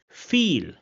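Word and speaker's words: viel: And this is pronounced as e in English.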